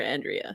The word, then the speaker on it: Andrea: I keep saying Sister Andrea, but it's actually Sister Andrea.